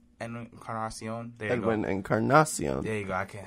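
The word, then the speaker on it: Encarnación: Encarnacion.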